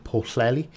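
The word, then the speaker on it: Pwllheli: ended uh phillip was posted uh posted to porcelli in north wales yes that is 100 the current correct pronunciation and on hms royal arthur in wiltshire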